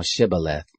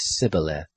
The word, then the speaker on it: Shibboleth: If he said no, then they said to him, "Say now Shibboleth." And he said Sibboleth, for he couldn't manage to pronounce it right.